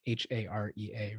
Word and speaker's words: Harea: do you pronounce, because it's like Harea, right? People are like, how do you pronounce that? And be like, it's like hooray, a band.